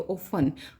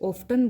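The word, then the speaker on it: often: तो ओफन, ये कई बच्चे ऑफ्टन बोलते हैं इसको, लेकिन ये ओफन होता है, टी साइलेंट होता है।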